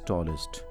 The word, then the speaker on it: tallest: And the superlative form is tallest. And here I would like to tell you how to pronounce this est. In spelling it is est, but you should not say est, it is ist.